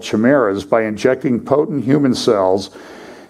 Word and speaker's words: chimeras: So far, these human monkey chimeras is how it's pronounced, are no more than bundles of budding cells in a lab dish, but the implications are far-reaching, ethics experts say.